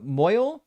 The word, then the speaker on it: mohel: uh heard the circumcision guy called a moel pronounced to rhyme with so soil. You mean uh moy? Oh well I mean yeah you could pronounce it that way in in modern Hebrew. Yeah yeah you you can do that. Um if you if you pronounce it classically you actually pronounce the uh the hey in the middle of it.